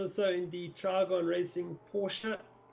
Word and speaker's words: Porsche: Gabriel Rousseau in the Trigon Racing Porsche. Used to say Porsche until Porsche came out with that advert telling us how to say it properly.